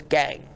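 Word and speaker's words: gangue: last week's show and the Word was gang it is spelled g a n g u e and it's probably not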